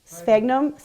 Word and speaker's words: Sphagnum: Let's see if anyone can help me pronounce this right. Sphagnum, thank you, moss.